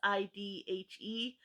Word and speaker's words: Sidhe: called fairies, and I don't know how to pronounce it. It's Sidhe.